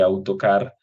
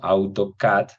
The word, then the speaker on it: AutoCAD: No se dice AutoCAD, sino AutoCAD. Esta palabra CAD al final